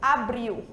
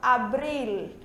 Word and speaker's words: abril: Geralmente quando a gente fala em português, o nosso L sai com som de U, abril, certo? Em espanhol a gente pronuncia o L, a língua toca no céu da boca, abril, tá bom?